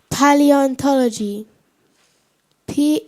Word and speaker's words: salubrious: or Pleasant thank you sir okay am I pronouncing it correctly Salos yes Sal Brios Sal Brios Sal Brios Salu Brios s a l u b r i o